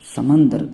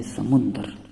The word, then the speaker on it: سمندر: وہ ہے سمندر۔ دوستو، سمندر میم کے زبر کے ساتھ یہ غلط تلفظ ہے، جبکہ اس کا صحیح تلفظ ہے سمندر۔ دوستو، سمندر کا مطلب